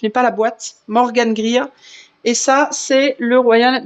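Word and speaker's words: Greer: Grire, ça s'écrit G R E E E R. Je n'ai pas la boîte. Morgan Grear.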